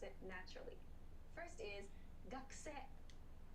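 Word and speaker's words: 学生: A pronunciation point about this word, it's not gakusei, but gakse. Gakse. So this u sound is very, very quick and soft. Gakse will make it sound natural.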